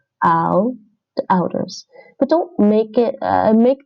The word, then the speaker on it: ouders: De ouders. De ouders. De ouders. This is pronounced like owl, like the vowel in owl. Owl. De ouders.